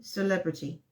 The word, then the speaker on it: celebrity: Tu fais comme si le premier E, c'est absent. Oh, ok, celebrity.